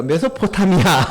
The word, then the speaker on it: 메소포타미아: 이게 유명한 메소포트 아, 매 그 메소포티 아 발음이 메소 메소타미아 메소타미아 예 포타미아 그러니까 메소포타미아 그 사대 문명 중에 하나죠.